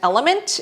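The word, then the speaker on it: LMNT: I recommend is from this brand element it is spelled l MNT the raw unflavored one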